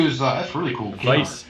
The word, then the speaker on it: Weiss: Weiss. The W is pronounced as a V. Weiss.